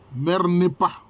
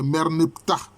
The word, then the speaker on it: Merneptah: Mernepa. En fait, c'est Merneptah. Si on veut bien prononcer, c'est Merneptah.